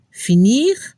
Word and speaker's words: finir: Para la pronunciación se debe escuchar un poco la R al final de los verbos: finir, choisir.